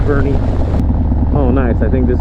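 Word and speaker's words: Boerne: Longest time I was pronouncing this town Bourne because it's spelled B-O-E-R-N-E, so you would think Bourne, right? But it's actually pronounced Bernie.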